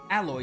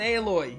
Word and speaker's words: alloy: some kind of reinforced alloy too I almost said aloy aloy is the forbidden West character Zero da forbidden West character but it's pronounced alloy unbelievable there's no way